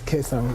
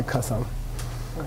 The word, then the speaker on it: Kesang: Kesang is colloquial Tibetan. They pronounce it as Kesang. They don't say Kasang. They can't say Kasang, but I'm going to continue.